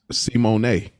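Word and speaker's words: Symoné: Actually, just found out Raven Simone. That ain't even how you say her name. It's Simone.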